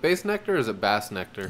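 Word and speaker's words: Bassnectar: Is it Bass Nectar or is it Bass Nectar? It's Bass Nectar. Okay. Yeah. Heard it pronounced Bass Nectar Somebody's earlier fucking today.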